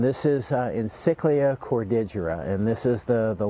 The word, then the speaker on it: cordigera: in cyclic or didgera I've had other people call it um cordajara and I'm not sure what the pronunciation but when I when I looked at the the name cordigira is is how it for me it's how it should be pronounced anyway this is a